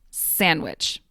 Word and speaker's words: sandwich: disappears to become Christmas the d in sandwich often disappears but not always to become sandwich although some people will